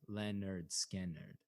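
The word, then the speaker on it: Lynyrd Skynyrd: It's pronounced Leonard Skinner.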